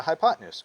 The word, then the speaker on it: hypotenuse: to abbreviate it height notice how it's spelled hypo 10 and use right hypo is hypo and the word 10 t e n and use use this helps me spell it you guys hypotenuse but you don't say it that way you're going to say it smoothly like hypotenuse all right and it's